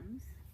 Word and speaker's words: Thames: beautiful, did I say the right way to pronounce the name of the river? Thames. On the Thames River right behind us here.